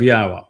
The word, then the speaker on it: Yahweh: And haya tells us how to pronounce the Y, the Yod, and the two Hay's in Yahweh's name.